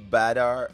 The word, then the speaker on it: Bader: If you're in Germany, it's pronounced Badar. What is it? Bader.